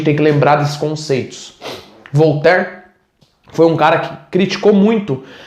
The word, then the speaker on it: Voltaire: ah tá vou ter voltar muito famoso no ministra se escreve voltaire mas se fala voltar voltar foi um grande